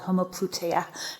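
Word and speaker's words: homoploutia: You've you've in your forthcoming book you write about a new concept called homopluta. Am I pronouncing it correctly?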